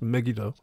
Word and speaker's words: Megiddo: I've looked up the pronunciation of that. It's Megiddo, 15th century BCE.